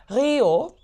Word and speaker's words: Riho: Tout d'abord, je m'appelle Rio, R-I-H-O. Donc, pour les Français, c'est très, très difficile à prononcer. D'accord. Oui, mais bon, donc simplement, je dis que c'est comme Rio de Janeiro.